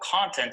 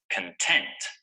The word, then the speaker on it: content: be successful there is a lot of useful content on the internet for English learners so remember the adjective form of the word is pronounced like this content and the noun form of the word is